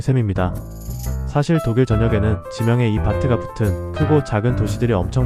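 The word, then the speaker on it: Bad: 독일 여행을 하다 보면 여기저기 베드라는 단어가 붙은 도시들을 많이 보게 됩니다. 베드, 나쁜 거 이렇게 생각하실 수 있는데 전혀 아니에요. 독일어 베드는 바트라고 읽고 영어의 베드와는 완전히 다른 뜻입니다.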